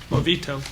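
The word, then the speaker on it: Movoto: Movito.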